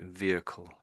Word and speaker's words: vehicle: Some Americans say it that way, but otherwise it's just sort of the H dies a little bit. So vehicle, vehicle.